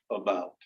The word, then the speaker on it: about: It sounds like about. Even though it's spelled with an A, it sounds like about. And it's very, very short, right? It's almost like it's not there.